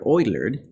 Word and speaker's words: Euler: gonna learn our number e is named after Euler it's pronounced lower than E but it still pronounced Euler number E is a number two point seven